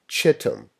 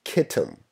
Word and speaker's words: Chittim: with the kingdom of chittim or kitten depending on your pronunciation well kitten would be